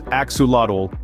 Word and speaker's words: axolotl: it a lizard let's find out the axel pronounced as axadle is a fascinating creature that's neither a fish